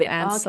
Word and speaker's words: answer: And another thing, I suppose, yeah, still some pronunciation errors, silent letters. Sometimes I get Mm. people at an intermediate level still saying answer instead of answer.